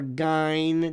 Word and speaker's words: Gein: But Ed Gein, or Gein, depending upon how you pronounce it, is, one of the inspirations for the movie Silence of the Lambs.